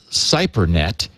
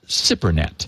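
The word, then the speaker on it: SIPRNet: i was calling it cypernet s-i-p-r-n-e-t and he's he sort of breaks it up phonetically and he says it's pronounced sip s i p hyphen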